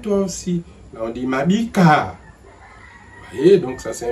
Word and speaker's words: Mabike: Donc on voit bien que le même nom, Mabik, il y a E muet. À la base, il y a Mabike, E accent aigu, ça devient Mabiko.